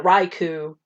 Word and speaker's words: Raikou: i fixed it because it was suicune and raiku and entei yeah yeah and yeah sorry i